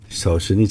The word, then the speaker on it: Solzhenitsyn: And Solzhenitsyn. Thank you for the pronunciation.